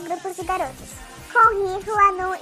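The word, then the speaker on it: Hwanwoong: U também e o G não se fala. E o W no meio também, tipo, não tem som, né? Então fica Hwanu, Hwanu.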